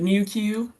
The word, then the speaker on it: NuQ: yeah this nuq but we pronounce it newq new kind of like meww like the Pokemon but New Q um but so yes